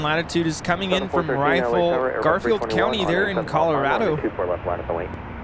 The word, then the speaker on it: Rifle: is coming in from rifle Garfield County there in Colorado is it pronounced rifle or riffle I think it's rifle kelse with10 super Kelsey